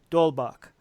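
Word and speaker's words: d'Holbach: Hobart well he team I keep saying the H is silent there's no it's pronounced dole Bach so thank you for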